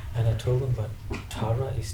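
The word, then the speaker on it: Tára: accent over the A R A so it's pronounced as Tara right and when we try to register my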